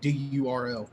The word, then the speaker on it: Durl: I think D-U-R-L.